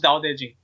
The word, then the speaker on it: Tao Te Ching: anyone can read in their lifetime is the doubt edgy or often transcribed as tao te ching but no it's pronounced daodejin and knowledging is a very short book you